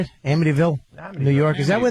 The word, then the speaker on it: Amityville: Amityville, New York.